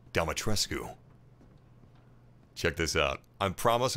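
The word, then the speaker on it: Dimitrescu: welcome to castle demotresque apparently even though ethan pronounces it uh dumbotresque the romanian pronunciation would be domitrescu check this out i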